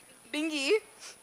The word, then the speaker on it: Bingi: Bingi.